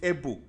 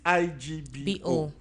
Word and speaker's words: Igbo: And some will even call it Ebo. Some will even call it Ibo. Okay, some call it Ebo that's E B O. Yes. Some will spell it I B O. But the real what the real people is IGBO.